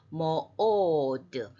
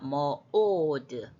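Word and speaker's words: מְאֹד: 그래서 모오드 알렙 밑에 뾰족한 그거는 강세입니다. 모오드 약간 끊어요.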